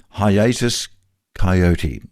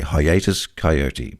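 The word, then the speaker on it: Hiatus Kaiyote: And for all those overseas listeners, if there's an Australian band you want to get into, I would recommend Hiatus Coyote, spelt with a K. Hiatus Coyote.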